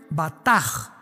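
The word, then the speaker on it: בטח: Y es la palabra hebrea batch con b de burro y ch al final. Se pronuncia bataj.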